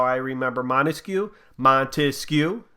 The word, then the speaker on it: Montesquieu: Montesquieu, that's 3 syllables.